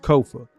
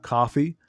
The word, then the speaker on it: Kofa: I am your host, Kofa, K-O-F-A, not coffee, not kufu, not kofi, or any variation thereof. Kofa rhymes with sofa.